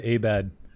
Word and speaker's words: Abed: Also, you said Abed.